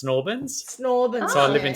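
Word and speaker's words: St Albans: Um St. Orins gets pronounced Snorbins.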